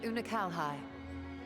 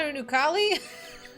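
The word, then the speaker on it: Unukalhai: of the 13th thus that's how you say his name it's not a new Cali whoopsie it's too bad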